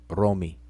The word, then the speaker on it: romi: coptic word for it although it's spelled like the word rome but it's actually roam me romi and you see the